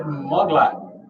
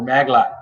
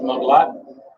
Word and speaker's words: Muglot: We will get out the official Everything Spicy knife, brought to you by Brad Muglot or Maglot, however you want to pronounce it. It's pronounced Muglot, but this is handcrafted from a solid piece of steel, handcrafted knife.